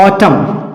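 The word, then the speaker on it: autumn: example में देखते हैं ऑटम ऑटम फ्रेंड्स ए य टी य एम ए एम के बाद क्या आ गया ए अगर हमें ये नियम ना पता रहे कि एम के बाद ए आने पर एन साइलेंट होता है तो ऐसे शब्दों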